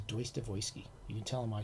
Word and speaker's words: Dostoevsky: they say deutsche weisse that's the proper proper russian translation is pronunciation is deus devoisky you can tell them